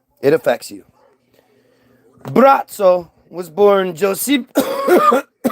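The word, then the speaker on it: Braco: better known as Bratzo. B R A C O, but it's pronounced Bratzo.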